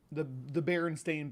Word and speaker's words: Berenstain: game nerd is the Berenstain Bears. People insist that it was spelled like Stein, like Frankenstein, but it's STAI. Yeah, it's spelled like Stain.